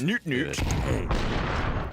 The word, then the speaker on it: nutnut: Do you think nutnut who in Danish is about him all the time? He's pronounced noot noot. But if he had considered how us English speakers were going to say his name, I think he knows the joke.